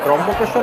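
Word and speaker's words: ত্র্যম্বকেশ্বর: ত্রম্বকেশ্বর বলে কিন্তু এখানে, ত্রম্বকেশ্বর আমরা এমনি উচ্চারণে বলি, কিন্তু এখানে লোকেরা ত্রম্বকেশ্বর বলে।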